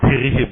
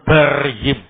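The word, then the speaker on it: بَرِّهِم: khitir khalaq barhim waajirim saya baca birihim ya Yang betul barrihim bnya di fathah barrihim wafajirim na yakni di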